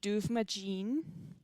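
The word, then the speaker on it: Dubhmadin: I would read the way that Rebecca writes it as duvagene, but it would be a little bit different if you actually put it in the correct Gaelic.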